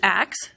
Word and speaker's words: ask: He uses axe, spelled A-X-E, and axe remained a literary form through the 16th century. So axe may well be the older pronunciation, it just wasn't the one that was standardized.